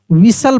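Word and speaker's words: whistle: लिसन सी एस टी एल ई T silent रहेगा। इसको कैसल पढ़ेंगे। क्या पढ़ेंगे? कैसल डब्ल्यू एच आई एस टी एल ई विसल पढ़ेंगे।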